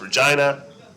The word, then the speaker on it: Regina: And by the way, in America, we would in Canada it's pronounced Regina.